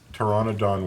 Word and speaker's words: Pteranodon: believe it or not, there's a P at the beginning and then a T. What? Pteranodon.